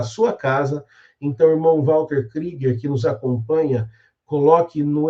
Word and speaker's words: Krieger: Walter Krieger se escreve Kruger, mas sabemos que se fala Krieger.